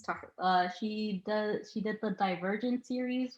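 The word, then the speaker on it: Tahereh: Yeah, it's Tahira.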